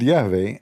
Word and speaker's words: Yahweh: original Hebrew text uses the tetragrammaton YHWH, which is commonly pronounced as Yahweh by scholars.